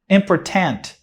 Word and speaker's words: important: Important. Mas a palavra é pronunciada important. Important.